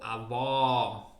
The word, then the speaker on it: avó: vogais abertas vogais fechadas por exemplo abuelo abuela avô avó O ó o ó a letra O tem dois sons o ó avô Ó mas é outro tema